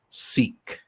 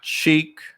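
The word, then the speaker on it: Sikh: he is a very very experienced seek not Chic I pronounced that before the recordings a good thing we got that right you know because I'm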